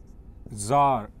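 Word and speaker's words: czar: अब जो सी जेड ए आर है इसमें सी साइलेंट रखते हैं और पढ़ते इसको जार है ठीक है याद रखेंगे.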